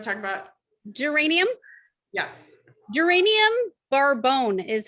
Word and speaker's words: Bourbon: Geranium barbone is how it's pronounced. Just not Barbone. bourbon.